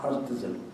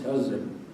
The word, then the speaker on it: Herzl: In Arabic they pronounce T as well, Herzl, but it is Herzl.